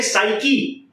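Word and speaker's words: psyche: Okay, सो psychologist का मतलब है आपके साइकी प्रोनाउंसिएशन पे ध्यान दीजिए, अथवा आपके माइंड को पढ़ना, साइकी को पढ़ना.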